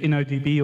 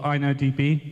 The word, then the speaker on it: InnoDB: my Isam tables to innodb or inodb depending on how you pronounce that um you do lose